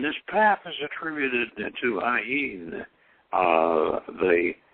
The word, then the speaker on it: Ayin: And he says, Ayin, pronounced Ayin with a slight nasal twang, which means the eye, referring to the eye of Shiva, said to be atrophied into the pineal gland.